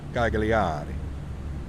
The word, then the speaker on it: Cagliari: Cagliari. You have to say it like a proper Italian, right? Even though I'm probably butchering it.